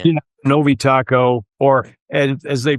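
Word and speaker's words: Tocco: Novi Taco or as they pronounce it there, Tokco, which I had to be corrected on because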